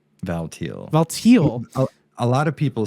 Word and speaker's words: Valtiel: birthing this God valtiel valtiel Val a lot of people say Vol as well it's like t i e l but I think um the way it's supposed to be pronounced as like teal like as in but